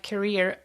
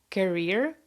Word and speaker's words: career: with finding the right career. I hosted a webinar 2 weeks ago, and somebody corrected my pronunciation of the word career because I pronounce it like carrier, which means something different, and I know it